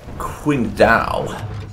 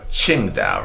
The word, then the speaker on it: Qingdao: Well, they've taken this little peninsula here, and are attacking the city of Qingdao, or Qingdao, rather. No, I think that's how you say it.